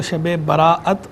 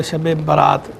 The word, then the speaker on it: شب برات: کر دیتا ہوں کہ یہ لفظ جو ہے وہ شب براعت اور شب برات بغیر حمزہ کے دونوں طرح ٹھیک ہے.